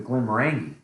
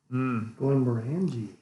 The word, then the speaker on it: Glenmorangie: I pronounce it the Glenmorangie. Glenmorangie.